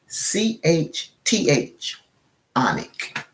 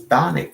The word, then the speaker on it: chthonic: It's spelled CHTH. Where they do that at? CHTH. Onic. So it's Thonic. So Chthonic. I guess it's Chthonic.